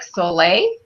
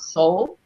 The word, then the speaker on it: Solle: as a company and I know it looks like Soleil like it would be pronounced soleil but really it's it's called soul because all the products